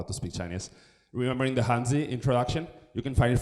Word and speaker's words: Hanzi: Remembering the Hanzi, like Hanzi. Yes, in Chinese, you'll say it like that.